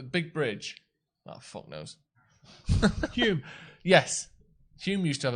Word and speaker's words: Hume: Google Hume, Hulme. That's how it's pronounced.